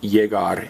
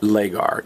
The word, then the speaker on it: llegar: notice that it's pronounced jagar and not legar in Spanish the Double L is pronounced as a y which is why when